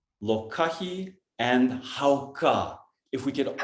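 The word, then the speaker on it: lōkahi: I'm going to write it, lokahi, and then we're going to share what Brother Juan shared, hauka. Brother Juan, will you type that in the comments so people know the correct pronunciation? Lokahi, and Hauka.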